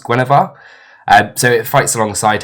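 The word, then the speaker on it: Guenhwyvar: all about his Panther I think it's pronounced Gwar um so it fights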